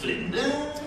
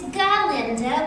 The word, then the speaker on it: Galinda: Miss Glinda? Oh, it's Galinda with a G.